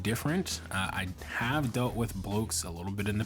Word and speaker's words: Blokees: We have Blokees or Blokes, depending on where you've heard it. I've heard it pronounced two different ways. We're gonna go with Blokes for the video.